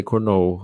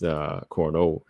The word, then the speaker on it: Cornolle: I'm gonna say Cornolle. I'm gonna let it flow, just so it don't sound like cornhole.